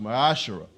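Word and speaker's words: מעשר: means a tenth in the Hebrew it is pronounced masar correct sir that's 10% of every penny of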